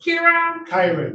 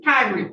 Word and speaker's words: Kyron: Now calling the matter, it's Kieran? Kyron. Now calling the matter of Kieran, I'm saying it wrong.